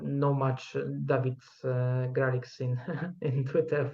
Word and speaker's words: Dawid: And By the way, as W is pronounced like V in English, so exactly, it's like German in that sense.